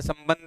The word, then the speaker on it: संबंध: जैसे आपके यहाँ संबंध है, संबंध में, संबंध में ता के ऊपर जो अनुस्वार है, ता के ऊपर जो अनुस्वार है उसका उच्चारण माँ, उसका उच्चारण माँ है। और बा वाले, बा के ऊपर अनुस्वार का उच्चारण ना है, अनुस्वार का उच्चारण ना है।